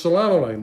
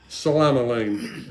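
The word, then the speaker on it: psilomelane: Well, turns out there's a silent P on it, like psychology or psychiatrist. It's Psilomele. Okay, Salama-Lane.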